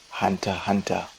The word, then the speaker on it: Hunter x Hunter: we're looking at today hunter hunter aka hunter alexander no idea why the x is silent but alexander then the